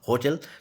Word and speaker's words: hotel: जैसे HOTEL, तो यहाँ पर ऐसे आप नहीं कह सकते कि ओटेल, ओटेल नहीं होगा, यहाँ ये है होटल, यानी है का साउंड